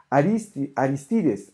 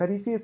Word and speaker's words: Aristides: Aristides, el acento en español no es aquí, no es Aristides, sino Aristides.